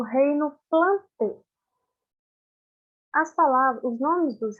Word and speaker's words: Plantae: E quando a gente vê o reino Plantê, vê essa palavrinha AE no final, quer dizer, se escreve plantai, mas pronuncia Plantê, tá bem?